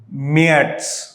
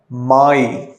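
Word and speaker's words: Mai: யானுவார், பிப்ரவரிக்கு ஃபெப்ருவார், மார்ச்சுக்கு மட்டும் ரொம்ப டிஃப்ரெண்ட்டாக வரும், மேட்ஸ். ஏப்ரல் வந்து சேம் தான், ஆனால் ப்ரொனவுன்சியேஷன் டிஃப்ரெண்ட். ஏப்ரல் இல்லை, ஆப்ரில். மேக்கு வந்து மே இல்லை, மாய்.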